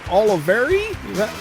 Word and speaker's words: Olivieri: today is a returning guest host uh Lori Oliveri that pronounce it right yes that's right that one